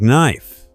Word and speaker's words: knife: English has many words with silent letters, like knife, silent K, hour, silent H, and comb, silent B.